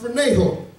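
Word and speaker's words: φρονέω: The word mind in the Greek is pronounced phroneho, which means to have something as habit of your thought.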